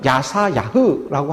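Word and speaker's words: ישעיהו: 이사야라고 하는 것은 야샤야흐에서 여호와는 구원이시다라는 그 이름의 뜻을 가지고 있습니다. 이사야의 이름은요, 히브리식으로 발음을 하게 되면 야사야흐라고 하는데, 여호와는 구원이시다라는 그 이름의 뜻을 가지고 있죠.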